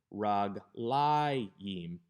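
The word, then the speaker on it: רַגְלַיִם: regel is a segelet, the accent doesn't shift all the way to the end of the word, but to the second to the last syllable, raglayim, because this is a dual.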